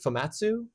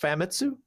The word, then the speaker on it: Famitsu: Famatsu Famesu. Is that how it's pronounced? Is it pronounced? Famitsu.